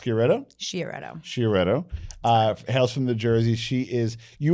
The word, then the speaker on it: Sciaretto: Her name is, and it's pronounced Sciaretto.